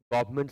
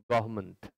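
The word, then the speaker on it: government: आप पढ़ चुके हैं बहुत लोग गवर्नमेंट कहते हैं बहुत लोग कुछ और कुछ और पढ़ते हैं है आप इसका सही उच्चारण करें गवर्मेंट गवर्मेंट गवर्मेंट मंट पढ़ना है गवर्नमेंट तो क्वेश्चन है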